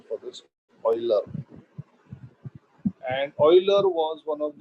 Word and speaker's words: Euler: Yes, that is the pronunciation for this, Euler.